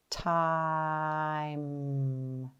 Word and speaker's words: time: do one more okay remember it's a magic e syllable so it has one sound e is silent that means that there are one two three sounds because e is silent E is helping I say his name are we ready let's tap the sounds t i m good let's tap and stretch The Sounds together time good let's do that